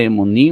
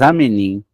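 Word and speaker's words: אמנים: realidade emunim pode entrar não pronuncia emunim mas am menim plural que significa que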